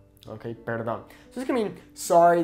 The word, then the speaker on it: perdón: Okay, notice how there's an accent over the O. So it's not perdón, it's perdón. Okay, because normally that natural emphasis falls here on the second to last vowel. Okay, perdón.